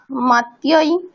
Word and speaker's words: मत्याः: मतिभिः मत्यै मतिभ्यां मतिभ्यः मत्यै मतये मतिभ्यां मतिभ्यः मत्याः मतेः मतिभ्यां मतिभ्यः मत्याः मतेः পঞ্চমীতে কি, ষষ্ঠীতে কি বলছো? মাত্যাহ না মাত্যাহা? কি আছে? मत्याः হ্যাঁ, আকারটা স্পষ্ট উচ্চারণ করতে হবে।